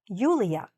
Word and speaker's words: Yulia: Or they might be familiar with Julia, but not Julia.